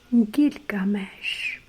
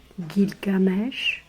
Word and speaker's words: Gilgamesh: I have this book Gilgamesh the king so gilgames g i l gil g g a mesh m e s h Gilgamesh someone pronounce it games so I I just